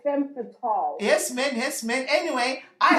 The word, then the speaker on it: femme fatale: It's French. Like it's femme fatale.